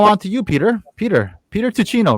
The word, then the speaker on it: Tuccino: Tuccino would be the Italian way to pronounce it. In America, very often we say Tuccino, but Tuccino is the actual correct pronunciation.